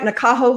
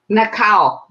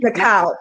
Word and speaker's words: Nakao: Am I pronouncing your name right, Nakaho? Nakao. Nakao. Yes, I'm Japanese, so that's a Japanese name. Nakao, yes.